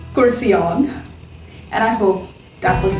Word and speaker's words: Kurseong: it it becomes cursion you can maybe say kursi the hindi chair individual and om only is something we can all pronounce easily right so cursey plus om kurcian or you can go through the syllable wave which is cursing on either ways pronunciation remains the same curseon and i hope that